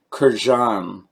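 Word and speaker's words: Kurkdjian: he's answered the question it's Kurt John is my understanding or at least that's really really close to a very accurate pronunciation anyways I digress as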